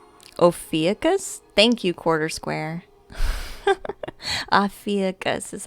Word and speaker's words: Ophiuchus: Oh yeah, Afrinkius? How do you say that? I think you're right though, Forest Fairy, yeah. They come in packs, they do. Yeah, it's clear. Ophiuchus? Thank you, Quarter Square. Ophiuchus is how I pronounce it.